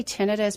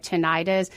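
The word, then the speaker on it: tinnitus: ten tenus uh it's there is two ways to correctly pronounce it um I say tenus because the other way of saying it tenius is so close to tendonitis that people can get it confused especially in your field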